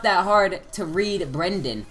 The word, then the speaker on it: Brendan: wrong and it's like it's not even a hard name to pronounce you know like Brendan for instance every single teacher I've had they've always said first and I'm just